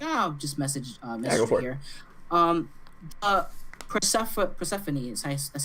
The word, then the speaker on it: Persephone: Persephone is that's how you say it, right? Yeah, Persephone, yeah.